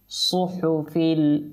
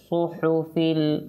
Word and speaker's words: صحف: জায়গায় আপনার সদ সিন এই যে যেমন যেমনকি এখানে আপনি দেখুন সুহুফিল উলা, তো এটা সত, এটা সিন না, সু সু হবে না, সু সু ইন্নাহাযালাফি সুহুফিল উলা সুহুফি ইব্রাহিম ওয়া মূসা সাদাকাল্লাহুল আযীম وصدق رسوله النبي الكريم.